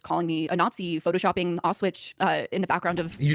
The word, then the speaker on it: Auschwitz: Also just calling me a Nazi, photoshopping Auschwitz in the background of...